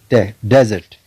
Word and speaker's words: desert: In this example, desert, you can find the accent mark on the first syllable, desert.